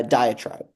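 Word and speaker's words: diatribe: How do you pronounce the third word? Uh diet tribe.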